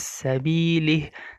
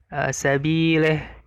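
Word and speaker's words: سبيل: Nah, tipis sabilih, tapi dibaca sabileh ya, imalah ya, sabileh.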